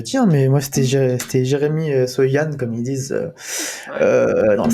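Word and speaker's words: Jeremy Sochan: Et pas ce fameux Jérémy Sauchamp qu'on a envie de prononcer à la française.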